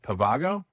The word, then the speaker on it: Pavago: He is a founder of Pavago. Did I pronounce it right?